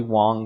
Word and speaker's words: Wang: So this train station is called Wang Coffin. You know, probably Wong Coffin, honestly, is probably a more authentic uh pronunciation.